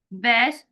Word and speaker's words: bass: The double bass is the largest string instrument in an orchestra. In this sentence, bass rhymes with case one.